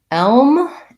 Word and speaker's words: elm: and so the um both of these have the dark l in them elm is gonna have the vowel f like red tent but because i'm doing l